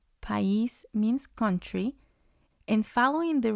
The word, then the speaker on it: país: But because it has the accent, I moves to its own syllable. So it's going to have 2, and the stress is going to be on the I.